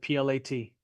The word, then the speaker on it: plat: line seven plat map and that's how you pronounce it plat Subdivision plat map so the developer makes plans for the